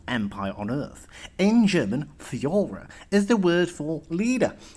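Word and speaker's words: Führer: the most powerful empire on earth in german fiora is the word for leader and fiora was what germans called hitler you pronounce it like this for your her two days later more bombs fell on amsterdam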